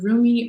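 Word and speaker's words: Rumi: message here is your roomie oracle message um and it's from this deck is from elena fairchild and um so roomie or remy depending on how you pronounce it i usually say roomie but whatever um he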